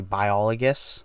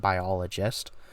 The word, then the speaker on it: Biologus: name is the Apothecary Biologus, and I'm saying that right. It's spelled G-I-S for some reason, not biologist.